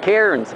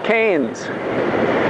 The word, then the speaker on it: Cairns: is not pronounced cairns remember we don't pronounce our r's we don't like ours